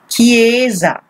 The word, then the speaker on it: chiesa: a written here that they sound with H is always strong so these will be produce pronounced chiesa okay Giza here you have